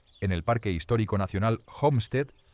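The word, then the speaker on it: Homestead: En el parque histórico nacional Homstead, pronunciado Jomstead, en Nebraska, el servicio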